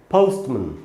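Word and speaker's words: postman: मैं अगर आपको थोड़ा लिख के बता दूँ, जिसको हम ओ समझते हैं इसका असल में ब्रिटिश इंग्लिश में इसका उच्चारण होता है आधा अ, आधा अ और ऊ, अ, ऐसे आधा अ और ऊ, अ, यानी इसको हमको पढ़ना चाहिए पोस्टमैन, पोस्टमैन।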